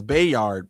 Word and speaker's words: Bayard: I always say Bayard Rustin cuz I thought that's what his name was, but I guess it's Bayyard.